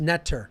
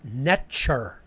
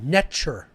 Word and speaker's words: Neter: It was actually pronounced netcher. The T is a ch sound, hard, like TCH, netcher. That's how it was actually pronounced in ancient Egypt, netcher.